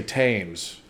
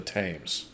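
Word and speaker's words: Thames: river here's a breakdown the th at the beginning is a t- sound right I knew that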